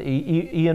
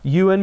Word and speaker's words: Ewan: It's got Ian McGregor, or however you pronounce his name. Ewan McGregor.